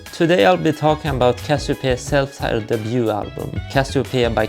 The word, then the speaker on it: Casiopea: Casiopea, like the stars in the sky that you might see in July.